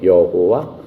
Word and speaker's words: 여호와: YHWH를 발음을 하면은 야훼, 여호와 이렇게 발음을 할 수 있습니다.